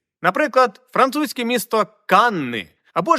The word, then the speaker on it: Cannes: ну мабуть це багато Канни але чомусь не важивши що це Англія а Франція і каннес згідно французької фонетики вимовляється як Кан просто Кан Ну трошки відійти від